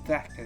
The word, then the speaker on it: Xhaka: How do you pronounce it? Xhaka, that's it.